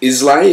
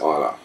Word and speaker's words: Islay: imaginatively named Isa uh many folk say uh pronounce it islay if they don't know better but the Scots pronounce it Isa well uh GC might